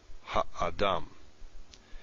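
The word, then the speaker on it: הָאָדָם: The major stress is here. Ha-adam. But you don't want to reduce this. Ha-adam or ha-adam, or just really make it short. So this is ensuring that it still is pronounced as a full value, even though it's this far. It's two syllables from the final one. It would otherwise get reduced.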